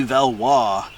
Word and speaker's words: Valois: I guess that's how you say it, Clotilde de Valois. It's not Valois, it's Valois.